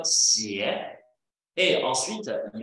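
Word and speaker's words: 鞋: Les chaussures sont prononcées en chinois comme xie, et ensuite, il y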